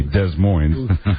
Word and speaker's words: Des Moines: Well, I really think they ought to pronounce the town correctly, Des Moines.